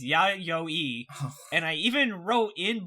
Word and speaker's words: Yayoi: is how you said yayoi our pronunciation guy very explicitly sent us a message saying do not pronounce it like that it is ya yo e and i even wrote